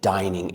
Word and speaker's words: dining: So, this is a dining area. Be careful. It's not a area like dinner.